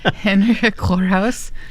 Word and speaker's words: Henrika Gorehouse: Henrika Gorehouse. The G has some oomph to it.